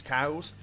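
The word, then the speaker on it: Kau: Okay, let's just cast Bane Splash and take out these cows. I know I said it in the previous episode, but it's still weird fighting enemies called cow. I know it is spelled like K-A-U, but it is a little bit strange too.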